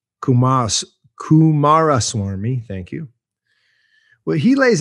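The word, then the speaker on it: Coomaraswamy: ball buster basically what about hinduism well ananda kumas swami as we as i'm having trouble say his name kumas kumara swarmi thank you well he lays out the bhagavad-gita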